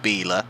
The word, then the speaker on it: Biela: So it's Bintcliffe on pole ahead of Alain Menu, Plato down in 4th behind Biela, although I do remember now that it's pronounced Biela.